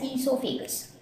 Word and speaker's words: esophagus: So esophagus it is spelled in two different ways. You can spell it with O-E-S-O or you can spell it as E-S-O. It is pronounced as esophagus.